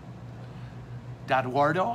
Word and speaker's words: DaEdoardo: DaEdoardo, I said it right, in Grand Blanc.